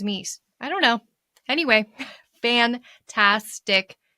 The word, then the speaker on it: Myss: And you may have read this, Anatomy of the Spirit by Carolyn Myss. Am I pronouncing that right? Miss? I always thought it was Mies.